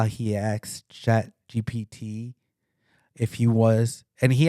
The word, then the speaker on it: GPT: So I asked Chat GTP directly. Did I saying it right? Chat GTP. or something like that. GPT. Yeah. GPT.